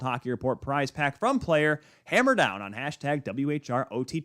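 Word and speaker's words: PLYR: by player this year p-l-y-r pronounced player so whenever a playoff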